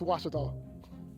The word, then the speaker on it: Ouachita: How would you pronounce it? Ouachita. Ouachita. It's Ouachita Baptist University. Get it right. It's Ouachita, people. It's Ouachita.